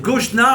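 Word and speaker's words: גשנה: Parce qu'il faut dire Goshna avec un E pour dire quand tu dis l'article, la ville de Goshen, Goshna.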